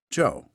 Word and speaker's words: Geo: less so were always signed simply quote Gio pronounced Joe so we would later discover he'd become interested